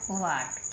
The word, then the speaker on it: what: एच को नहीं बोला हमने, बन गया वाट। क्या बन गया? वाट, क्योंकि एच को हमें साइलेंट रखना है ना।